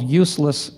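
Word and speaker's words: Euless: at a place called Useless, Texas. Yes, that's the correct pronunciation, just like the products that they peddle.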